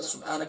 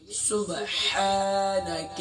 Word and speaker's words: سبحانک: سبحانک اللہم، سبحان نہیں ہے، سبحانک، سبحانک، نون کو شارٹ ساؤنڈ